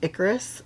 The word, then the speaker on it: Ikaris: His name is pronounced Ikaris, like Kid Icarus, the video game, way back in the like early 80s, 90s.